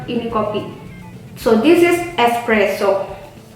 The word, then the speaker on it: espresso: So this is espresso. How you say that? Espresso. Not espresso. No. Express. No. No, without X.